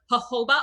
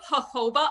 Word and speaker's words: jojoba: with a little bit of distilled water vinegar jojoba oil and if you want you can add